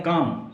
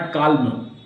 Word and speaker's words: calm: इसको क्या बोलते हैं? काम, नॉट काल्म. काम.